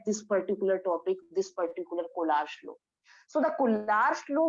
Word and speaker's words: Kohlrausch: This is known to be Collar's law.